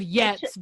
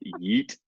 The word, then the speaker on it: yeet: and there's been a Chris- lot of yets being yeah. thrown around. Yet. Yet. Yeah, I think So- it's pronounced yeet.